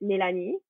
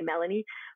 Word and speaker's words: Mélanie: up French so my when I'm speaking French I pronounce it nittany and when I'm with English people I you know just to make it easier for everyone we just say Melanie but um but I